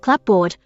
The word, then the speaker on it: clapboard: a spelling influenced pronunciation as for the mechanics of the transition from clearly sounded P to dropped p in the case of cupboard and one pronunciation of clapboard I defer to the